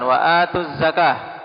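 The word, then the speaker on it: وآتوا الزكاة: Ini hazfnya dalam pengucapan. Waatuz zakah. Adapun dalam penulisan tetap ada ya.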